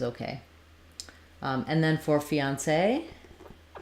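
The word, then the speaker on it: fiancé: for you is okay um and then for fiancee it's um fee um say fiance with the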